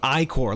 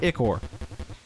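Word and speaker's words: ichor: fill it with magical eor that's pronounced iore look at that I asked you last episode iore iore not eor choose your iore wisely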